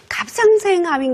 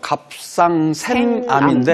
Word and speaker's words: 갑상샘암: 그러면은 갑상생암인 경우가 정말 많더라고요. 이 갑상생암이 유독 젊은 사람한테 많이 생기는 이유가 있나요? 네, 지금 이 발음하기도 좀 어렵죠. 갑상샘암인데 네. 네. 갑상생암 이렇게 자꾸 헷갈리죠.